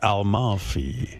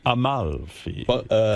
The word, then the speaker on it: Amalfi: Is there an extra L in there? Amalfi. Yeah. Amalfi.